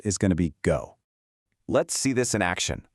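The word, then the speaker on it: 五: In Korean, the Hanja is pronounced o. Right below it, the Japanese on'yomi reading is go.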